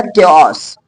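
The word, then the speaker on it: chaos: यहां पर सी एच तो इसको बोला गया क्योस, क्योस, है ना। लेकिन सी एच इसको क्या बोला गया, एच साइलेंट है तो केमिस्ट्री।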